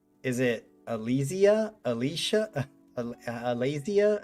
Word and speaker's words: Altesia: Altesia, wait, how do you? The stress is on the E.